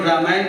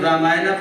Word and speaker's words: Ramayan: tell you in fact we try to equate the pronunciation also the way they they pronounced and therefore Ramayan become Ramayana for us. Mahabharat become Mahabharata for for us. Yog become yoga for us.